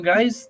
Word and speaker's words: Gui: spelled GUI uh some guys they some guys do you get it uh they they pronounce it as ghee or they pronounce it as guy but yeah so I'm